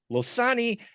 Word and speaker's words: Losani: Monster Mash and I am here with Kevin losani and Richard tarasi I hope I pronounced those correctly okay you got it you